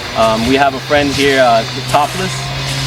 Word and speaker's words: 70L3SS: The name is Topless, but it's spelled 70L3SS.